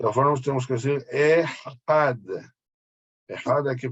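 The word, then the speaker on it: אחד: Sí, cuando uno dice Shema Israel, Hashem Eloquenu, Hashem Ehad. Ehad se termina con Dalet. Ahí cuando leemos el primer pasuk tenemos que tratar de alargar la pronunciación de este Dalet, Had, ¿ok?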